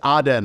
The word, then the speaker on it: Aden: sorry are you including Eden I know I'm pronouncing that wrong uh is Aden I believe uh yes of course